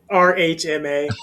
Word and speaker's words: RHMA: How do you say that in the acronym? RHMA. Like we're like the CIA or the FBI. Like we just do the letters. That's right. Not like NASA.